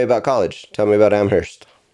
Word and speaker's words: Amherst: Tell me about Amherst. Yeah, Amherst was great. It's I'm sorry. Oh, no. It's okay. The H is silent.